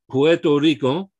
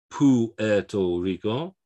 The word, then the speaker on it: Puerto Rico: the stress should be puerto rico what this is showing us is the use of that u as a w so it's not pu eto rico the the u is